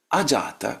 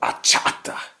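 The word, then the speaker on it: अजात: They see the word jata for instance. Jata. Jata means born. Ajata means not born. And then they go ahata.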